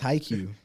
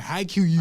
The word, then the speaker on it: Haikyuu: haiku thank you bro it's haikyuu my boy was out here saying haiku i separate that [